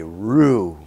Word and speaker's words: roux: I've melted some butter, boys and girls, because we're going to make a roux. Now, roux is a French word. It's spelled R-O-U-X, and it means making a paste out of butter and flour to help thicken.